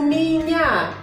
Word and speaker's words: меня: У меня. Esta y de vuelta se pronuncia como i, porque el acento cae en la última ya.